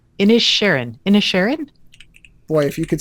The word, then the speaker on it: Inisherin: It's Inisherin.